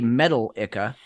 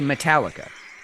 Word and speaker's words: Metallica: metal heavy metal but we don't say metal icka we say Metallica okay yeah you exactly you put the different emphasis on the different syllable and it's a totally